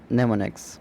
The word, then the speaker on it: mnemonics: It is pronounced as नेमोनिक्स।